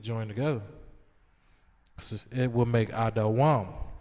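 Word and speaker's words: אֱדוֹם: Which is Adawam. That's how you pronounce it in the Hebrew. Just giving you an English pronunciation of how to pronounce Edom in Hebrew, Adawam.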